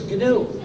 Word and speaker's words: GNU: so it's not new anymore but it is canoe and it will always be to do so please pronounce it carefully there is another pronunciation error